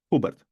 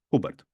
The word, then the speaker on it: Hubert: Sí, en polaco la H nunca es muda, siempre se pronuncia como una J.